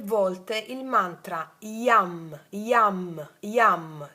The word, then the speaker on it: Yam: 3 volte il mantra Yam, Yam, Yam. Sai in napoletano Yam bell, ok? Yam, ilunga AM, Yam, Yam, Yam.